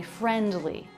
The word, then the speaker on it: friendly: Again, the D comes after an N before a consonant. Very common to drop that D. I didn't say friendly, but there's no D, friendly.